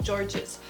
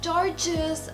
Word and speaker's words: gorgeous: I am now I thought that the word gorgeous was pronounced George's so I kept saying oh well this is so gorgeous I love this it was like my favorite word and I wasn't saying it right so oh my gosh